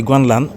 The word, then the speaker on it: Guanlan: Ah, excusez-moi de la prononciation. La vraie prononciation, c'est Guanlan. Voilà, en mandarin.